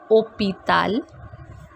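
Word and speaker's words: hôpital: tableau foreign here we have h which is silent so we are reading it like opi tal and the last word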